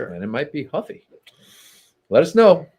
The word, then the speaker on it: Ruffy: Is it Huffy or Ruffy? Ruffy. He's Brazilian. He's part of the Oh, yeah. Yeah. So, don't they pronounce the R with an H in?